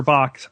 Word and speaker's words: Bach: named Edwin be in in England we pronounce it Bach Edwin be in England